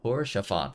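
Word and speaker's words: Haurchefant: Horshaphant, there we go.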